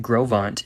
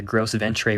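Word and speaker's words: Gros Ventre: the link up for one thing to know though is that grovant is spelled g-r-o-s-v-e-n-t-r-e it's actually french so if you're asking people around for the gross of entree river they'll know what you're talking about but they will also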